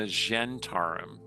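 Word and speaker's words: Zhentarim: Yeah, it doesn't match your experience with the Zentarum. Or the Gentarum. Some people pronounce it that way.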